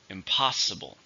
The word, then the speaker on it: impossible: happen it's an adjective four syllables stressed in the second syllable impossible expert thought it what